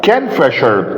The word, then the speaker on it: kingfisher: طيب كان فيشر طبعا هنا الجي لا تنطق لان احنا قلنا الاي ان جي او الان جي الجي لا تنطق.